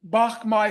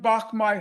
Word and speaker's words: Bach Mai: During Christmas 1972, the United States bombed Bach Mai Hospital. For your listeners who are interested, it's spelled B-A-C-H, new word M-A-I. Israel bombed Bach Mai Hospital.